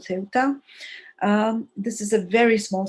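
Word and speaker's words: Ceuta: in north africa it's a city called seota in arabic it's called septa but in spanish it's called ceota this is a very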